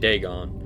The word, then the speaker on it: Dagon: So that's how you say it, Dagon.